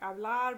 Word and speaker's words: hablar: Any infinitive, like hablar, vivir, comer, caminar, all of those are verb infinitives. They're all stressed on the last syllable.